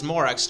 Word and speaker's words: Morax: but you're morax like yeah his actual name is morock's just like uh like